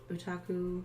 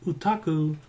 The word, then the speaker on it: Utaku: I decided on Utaku.